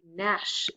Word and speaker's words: gnash: Outside, the raw wind can make you gnash those teeth. There's a silent G again.